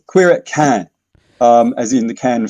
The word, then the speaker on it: Cannes: eclectic event it's a is that queers at canaries i know i know it's french i got the pronunciation right there uh no you've got the